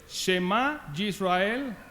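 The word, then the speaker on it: שמע ישראל: llama el sema israel y en hebreo se pronuncia así yo no soy hebreo tema israel adonay innove adonay y chad escucha israel el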